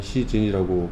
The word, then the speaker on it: 씨젠: 네, 저희 회사 이름은 시젠입니다. 한글로는 시젠이고, 그 영어로는 시진이라고 발음을 하고요.